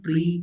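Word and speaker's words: Prix: Next question है हु वन the Italian grand प्री 2025? नाउ see here Italian grand प्री यहां पर मैं spelling लिखी है पी आर आई एक्स पर मैं पढ़ रहा हूं इसको पी आर आई एक्स को प्री पढ़ रहा हूं।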